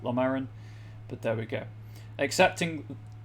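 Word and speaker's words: Llomerryn: Most human lands signed what I always insist on pronouncing as the Hlamerin Accord, even though the game pronounces it Lomarin, but there we go.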